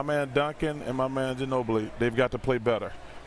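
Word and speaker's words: Ginóbili: Ginobili.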